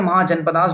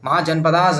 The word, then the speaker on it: महाजनपद: spelling ध्यान रखना और प्रनंसीएशन इसका सिद्धार्थ होगा इसके गौतम होगा इसका महाजनपद होगा महाजनपदास नहीं हो जाएगा ठीक है एक अजीब